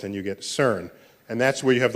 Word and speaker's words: CERN: the CERN collaboration so CERN is how you pronounce the word which I think in French that's the sequence of words but in English it's the European Center for nuclear research you swap some letters back and forth and you get CERN